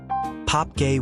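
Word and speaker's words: Pape Gueye: Pape gays pronounced pop gay winning goal and the 20 minutes the world stood still.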